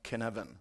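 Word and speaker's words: Cynefin: say this is Welsh so of course it's pronounced kin heaven as you can see so according to Canon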